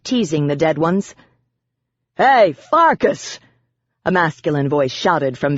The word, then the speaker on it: Farkas: "And you're Farkas, rhymes with Marcus, another lame-ass vampire.